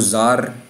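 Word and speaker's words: Czar: वंश के राजाओं को जार कहा जाता था ये दो इनकी स्पेलिंग है सी और साइलेंट होता है तो जार जो हैं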